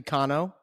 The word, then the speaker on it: Cano: My name has been butchered for years, and I never really corrected anybody. It's actually Cano. But you are a diehard New York Yankees fan, so the Cano, I will allow the Cano to slide.